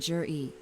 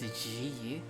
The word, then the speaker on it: Zhi: But isn't it pronounced Ji? But Zhi. Interesting.